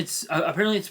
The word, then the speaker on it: AI: Apparently it's pronounced I instead of AI for some reason.